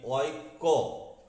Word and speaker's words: ঐক্য: এখন দেখুন উচ্চারণ করতে গেলে দেখতে পাবেন আপনি ঐক্য, কয়ে জফলার পরেও একটা উজ্জ অ থেকে আছে, সেই উজ্জ অটা বর্ণ বিশ্লেষণে ধরা হবে। তাহলে এবার দেখুন ঐক্য, কয়ে জফলা অ, ঐক্য।